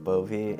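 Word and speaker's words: Bove: last name so my name's just like bovie and then so it's spelled like b o v e like that's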